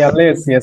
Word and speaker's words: Alessia: Alessia, né? Não sei se está a pronunciar bem. Alessia. Alessia, Alessia. sim, Alessia, sim.